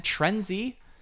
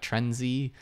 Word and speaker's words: Trendsy: So if you're trying to do fashion dropshipping on Shopify, then Trendsy, I just keep wanting to pronounce the S as a Z, like Trendsy, but Trendsy, like C as in yes in Spanish.